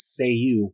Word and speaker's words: Cei-U: And his whole deal was he would summon this magic thunderbolt by using the magic phrase, say you, which is spelled CEI-U. But it sounded like say you.